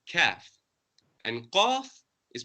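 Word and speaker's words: ك: Now we said that the kaf is the light, pronounced from the back of the mouth, lightly, kaf.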